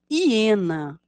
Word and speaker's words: hiena: a escrita desta palavra hiena é um mamífero carnívoro com mandíbulas Poderosas hiena começa com H mas lemos um som da vogal ir no início Vamos ler de